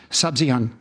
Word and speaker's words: Sabzian: I'm thinking of Sabzian. Is that how you pronounce it?